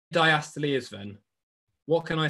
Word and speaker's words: diastole: and some of your teachers will call it diastole but it is properly pronounced diastole and there is something called um systole which